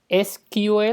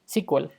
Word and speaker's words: SQL: que hablar de sql sql es como todo el mundo lo pronuncia en español en inglés lo suelen pronunciar de dos formas skip ue lo que es como se debería de pronunciar y también la pronuncian como sí cual cualquiera de las dos es válida aunque la real sea esquivel casi todo el mundo lo pronuncia como así cuál sql es un lenguaje